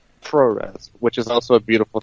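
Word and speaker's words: puroresu: We're having this conversation, and it's a really beautiful thing, just like pro res, which is also a beautiful thing. Some people call it Purorisu, as they pronounce it, improperly I might add.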